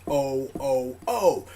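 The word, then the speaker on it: OOO: The way that Deno is written the king of trains, and how O's is pronounced as O-O-O.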